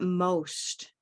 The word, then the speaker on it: most: was one how about most most most most ammo most it's only one syllable Rose bolt Rose Boat oh yeah it is